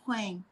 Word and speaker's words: Huang: So my last name is Huang, Huang. Huang. So I put the U in there. I pronounce the U because I'm a stupid American, you know? You Huang. can call Huang or Huang, doesn't matter. Whatever you feel comfortable.